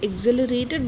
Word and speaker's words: exhilarated: like she was very exhilarated by the day's event so very thrilled or excited or intoxicated so when I say exhilarated I think it's uh the H is silent which is why we